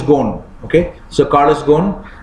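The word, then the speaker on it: Ghosn: pronunciation is it's called is written as Goshen but the pronunciation is gone okay so car is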